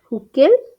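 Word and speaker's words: Hückel: সেটাই হচ্ছে ডি বাই হাকেল বা ডি বাই হুকেল আমাদের যেমন উচ্চারণ যার যেমন উচ্চারণ আমরা তো হুকেল উচ্চারণ করি বাট আমি ওই বাইরে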